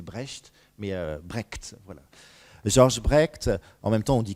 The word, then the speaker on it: Brecht: Alors, on le prononce bien Brecht, puisqu'il est américain, mais c'est un nom